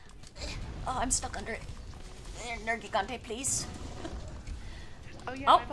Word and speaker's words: Nergigante: Like, the voice actors say Nergigante, and I'm like, just Nergigante. Why are we, like, emphasizing that I? It's a little, it doesn't make sense. Oh It's man. not Nergigante, it's Nergigante, please.